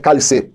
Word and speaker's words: Cálice: Ela escreve-se como um cálice, né, de um licor, cálice. Só que a forma de pronunciar é cálice, com S, né?